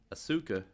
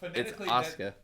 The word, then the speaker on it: Asuka: name and I'm like Asuka. Phonetically, you're saying it right, but the way it's pronounced is Americaniza. No. Uh that's the Americanized is Asuka.